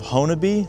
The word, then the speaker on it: Honobia: So I'm standing here in the little town of Honobia. That's actually how it's pronounced.